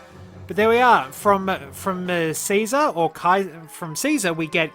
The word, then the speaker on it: Caesar: We usually think of it as being pronounced Caesar, but in Latin it would have actually been pronounced closer to Kaiser.